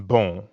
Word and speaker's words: bon: Like the on in bon. Exactly. Bon in bonjour is spelled B-O-N. But you don't pronounce that O-N the way you would in English. In fact, the N isn't really pronounced at all.